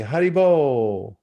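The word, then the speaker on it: Hari bol: the transcendental vibration going and it's spelled h-a-r-i second word b-o-l which means keep the transit vibration going and they put their hands up like this and they say haribo you turn on your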